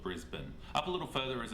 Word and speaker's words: Brisbane: is brisbane i guess from the way it's spelled it's easy to assume that you say brisbane but we actually call it brisbane up a little further